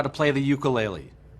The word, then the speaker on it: ukulele: To appreciate the history and cultural roots of this beautiful instrument, let's first clarify that the Hawaiian pronunciation is ukulele. Many people now pronounce it ukulele.